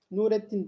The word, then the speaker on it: Nureddin: Başında elif lam olacak. Nureddin. Bakınız. Nureddin. Nur eddin. Lamla beraber baktığımızda şemsi kamera harfleri buradaki lam okunuyor okumuyor meseleleri kafanızı kurcalamasın. Ve dolayısıyla Nurettin dediğimizde bunu siz başka Hayrettin deyin mesela.